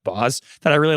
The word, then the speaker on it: Baz: There's a chef named Molly Baz. I think it's actually pronounced Boz that I really like.